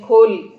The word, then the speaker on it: खोल: इसी तरह भूपेन महापात्र जी की खोल कहानी, जैसे उड़िया में खोड़ो करके उच्चारण करते हैं लेकिन हिंदी में खोल अपन कहते हैं, तो वो कहानी भी